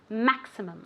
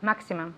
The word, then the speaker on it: maximum: Okay, remember that x, x as if it were K and S. Maximum. Okay, let's see if Diana can say this word. Maximum.